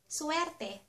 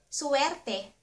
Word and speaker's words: suwerte: Good luck or suwerte. Suwerte.